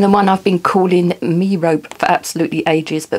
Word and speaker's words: Merope: And the Diapolese sisters, Maya, Ali, Star, Cece, Tiggy, Electra, and the one I've been calling Merope for absolutely ages, but of course it's not, it's Merope, which is actually a really lovely name.